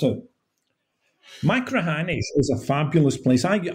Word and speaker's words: Machrihanish: Most people can't pronounce it. Machrihanish is a fabulous place.